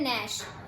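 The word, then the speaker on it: gnash: तो ऐसे ही एक क्या वर्ड है हमारा, लिखा जी एन ए एस एच है बट हम इससे पढ़ते क्या है, नैश। तो अब इसको बनाएंगे कैसे, तो इसमें देखो क्या है, हमारा जो जी है वो साइलेंट है इसमें, और हम इसको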